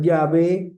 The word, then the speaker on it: Yahweh: Probablemente su su pronunciación era Yahweé o Yahwe.